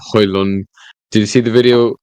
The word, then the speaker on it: Højlund: See how Højlund. Did you see the video? Højlund, how to pronounce Højlund's name? Silent D. Højlund.